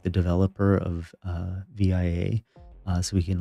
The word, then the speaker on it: VIA: I'm sure it's pronounced via, but it's all capital letters.